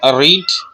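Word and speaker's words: read: इसकी पांचों शक्ल इस तरह है, रीड, रेड, रेड, रीडिंग, रीड्स।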